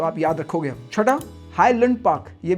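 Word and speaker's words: Highland Park: आप याद रखोगे क्योंकि इट्स नॉट हाई लैंड पार्क इट्स you know what it इज हाई London पार्क इट्स not pronounce लैंड it's pronounce you know it hi London पार्क सातवां जो काफी गलती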